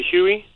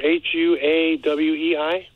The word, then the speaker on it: Huawei: It's called a Huey. A Huey? H-U-E-Y? No, sir. H-U-A-W-E-I.